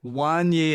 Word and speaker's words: Wanye: But I was still reading it as Wayne, and I'm like, what is this guy talking about? Yeah, I'm writing it. It's Wayne West. And you had to be like, no, Wanye, and like spell it out.